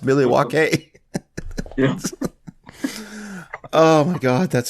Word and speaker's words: Milwaukee: Like, I thought he was going to have some conversation with you about the history of Milwaukee, which is, it's pronounced Milwaukee.